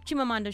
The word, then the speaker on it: Chimamanda: It's 4 syllables. Chim, ma, mon, Duh. See, I know how to say it. Pretty simple. If you could pronounce Schwarzenegger or McConaughey or Tchaikovsky, Chimamanda should be a piece of cake.